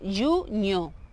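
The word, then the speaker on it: junho: Junio lleva aquella NH y esa pronunciación de NH es como una ñ, ¿ok? Entonces sería junio, ¿está bien?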